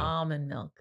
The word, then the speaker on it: almond: So I thought the L was silent.